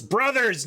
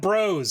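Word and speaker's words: Bros.: um uh super smash brothers which i've we've talked about on stream before and i i was kind of uh over the top like it's brothers not bros because everybody calls it smash bros including including my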